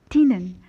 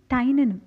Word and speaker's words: Tynan: have heard people saying Tynan nan Chu I reference the canal T and I found that it can be pronounced either ways Tina no Tainan sherry onna see we